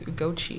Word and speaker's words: Ugochi: it's that, but like it's either Ugochi or Ugochi, but like the Nigerian way is Ugochi, and as I'm getting older, I like just pronounce like the original.